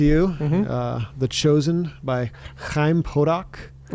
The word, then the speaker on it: Chaim: Uh The Chosen by Chaim Potok. Is that how you say his name? Yeah. Okay. That's nice. It's a It's like a guttural H.